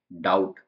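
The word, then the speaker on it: doubt: हम देखते हैं कि टी से पहले बी है इसलिए इसको साइलेंट कर दिया गया है डाउट वैसे ही अगर एम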